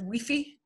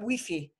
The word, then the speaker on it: Wi-Fi: in Spain they just they pronounce them like you would spell it that Wi-Fi is pronounced with E I do not know Mexico if they pronounce it as we fee but I would not